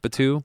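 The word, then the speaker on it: Batou: Batu.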